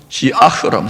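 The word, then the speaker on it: שיח: 이 근심이라는 단어는 히브리어 원어로 시아흐라면 시아흐, 한번 따라할까요? 시아흐. 예, 흐라고 하는 발음이 좀 어려운데 이 시아흐는 근심, 불평의, 불만의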